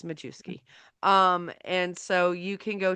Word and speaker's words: Majewski: Majewski, or as J.R. says, it's supposed to be pronounced is Mayuski. Nobody And cares. nobody cares. It's Majewski.